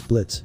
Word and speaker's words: Blitzo: Okay, first of all, it's Blitz. The O is silent Second, that's a stupid name.